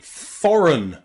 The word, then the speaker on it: foreign: counterfeit and Sovereign okay number seven the letters e and I can sometimes be pronounced with awah in words like foreign foreign foren run foreign or Foreigner Foreigner okay here the letters e and I are pronounced with a schah foreign Foreigner he's foreign